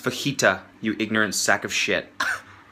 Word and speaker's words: fajita: yeah I'll have the Fujita's please pronounced fajita you ignorant sack of